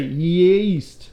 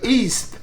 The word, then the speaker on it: yeast: Yeah, so say yeast. Yeast. No! Yeast. Oh! Yeast. That's awesome. You got it. Yeast. That's how you say it. Yeast, but I say east.